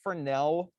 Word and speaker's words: Fresnel: is also called the fresnel reflection okay it's french the s is silent so don't go anywhere